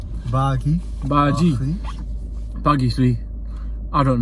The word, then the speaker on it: Baaghi: sea all right IG how do you pronounce it you pronounce it buggy buggy buggy see I